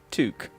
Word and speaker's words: toque: we go oh look it actually says pronounced toque it's official it's a toque I don't have flounder